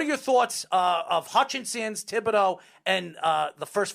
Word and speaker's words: Thibodeaux: I can't pronounce his name. Kayvon Thibodeaux. Thibodeaux, yeah.